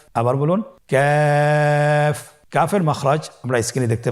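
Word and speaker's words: كاف: আবার বলুন কাফ। কাফের মাখরাজ আমরা স্ক্রিনে দেখতে পাচ্ছি। কাফের মাখরাজ হলো জিহ্বার গোড়া থেকে একটু আগে বাড়িয়ে তার বরাবর উপরে তালির সঙ্গে লাগিয়ে উচ্চারিত হয়।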